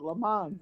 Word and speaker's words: Le Mans: We pronounce it Le Mans, and we always have.